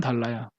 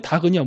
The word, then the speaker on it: 닭: 근데 동물의 닭은요 뭐라 그러죠? 달 이러지 않죠? 닭 그럽니다. 앞에 리을 발음 안 하고 기역 발음을 해요.